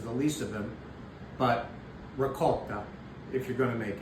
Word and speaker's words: ricotta: You do not say well you say some people say revolt which means you're from New Jersey or within